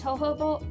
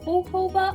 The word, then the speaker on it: jojoba: oil and she suggests jojoba hohoba oil or jojoba oil however you want to pronounce it or an avocado oil